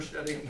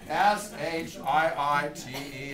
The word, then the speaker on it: Shiite: real offense with that if you say oh you're shitty no she i s h i i t e s she I okay uh